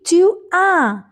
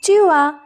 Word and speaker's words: tu as: Then it will be tu as and S is silent. Alright? So it is tu as with A and S.